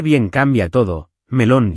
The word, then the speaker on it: melón: Pronunciar bien cambia todo: melón lleva acento en lón, y limón igual, limón.